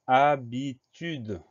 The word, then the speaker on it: habitude: on doit faire attention, parce que devant le A, il y a un H muet.